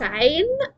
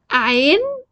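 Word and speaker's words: عين: It comes from the deepest part of the throat.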